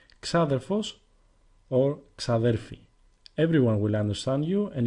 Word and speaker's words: ξαδέρφη: Xaderphi is feminine, and like the word xaderphos, there are three ways you can hear it pronounced. Exaderphi sounds a bit too formal, and xaderphi or xadelphi is the way you will most likely hear it.